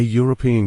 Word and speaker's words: European: a European country because European starts with a Y sound.